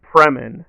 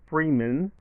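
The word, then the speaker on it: Fremen: but he went with kindness it should be fremin not Freeman not Morgan Freeman so that was a little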